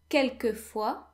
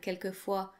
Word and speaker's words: quelquefois: So the S in parfois and quelquefois is silent.